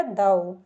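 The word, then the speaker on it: though: एच ए यू जी एच क्या हो गया दाऊ दाऊ टी एच टी एच को हम द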